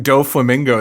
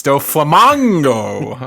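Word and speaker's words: Doflamingo: I'm pronouncing do flamingo the entire time. It's do flamango. Do flamac go. It's mock, like speed.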